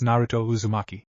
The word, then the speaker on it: Naruto Uzumaki: in Naruto's name I'm not sure how you pronounce this I'll give it a shot though he thought to himself narat Uzumaki Naruto raises his hand and begrudgingly said it's Naruto Uzumaki after the classes ended Jean and Naruto were